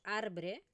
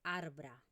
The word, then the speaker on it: arbre: No decimos arbre, sino que decimos arbra.